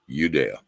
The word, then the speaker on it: Judea: tribe that came from Judea right but that's actually was pronounced udea there was yeah same